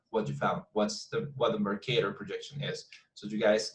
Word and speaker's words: Mercator: Mercator, that's the pronunciation.